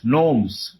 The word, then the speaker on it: gnomes: are like this g n o m s gnomes this is called gnomes this is how the pronunciation is g n o m s gnomes